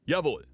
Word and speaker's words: jawohl: All right, let's go with jawohl, which is more like the proper way to say it, like jawohl.